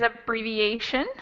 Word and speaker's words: abbreviation: think there are stephen the word is abbreviation abbreviation three syllables there's a little more than that does anyone have another guess how many syllables there are here four i think four i think three uh i think five five syllable there we got it it's five actually it's up free v a sun that's five syllables and we learned a